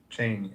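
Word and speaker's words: Cheyney: I believe that's what he was trying to pronounce. Yeah. Yeah. Yeah. It's called Cheney. Cheney.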